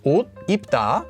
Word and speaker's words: 옷 입다: So normally the pronunciation for this is 옷 입다. So you would get 옷 입다. This is the right answer.